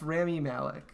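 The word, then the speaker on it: Rami Malek: 1738 I think it's Remy Malick okay well just try to pronounce that halfway between Remy and army who I think will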